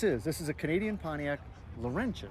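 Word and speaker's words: Pontiac Laurentian: then and this is this is a Canadian Pontiac Lenin right yes did I pronounce that right yep Pontiac Lenin 1961 one of 125 built in this body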